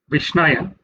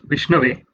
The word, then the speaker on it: Vishnave: sometimes someone might mispronounce, like actually it's Om Vishnave Namaha, but sometimes someone might say Om Vishnaya Namaha. Instead of saying Vishnave Namaha, someone would say Vishnaya Namaha, because one does not understand the grammatical constructs of Sanskrit.